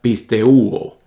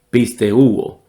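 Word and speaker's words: πιστεύω: Y el verbo creer se diría pisteuo, pisteuo.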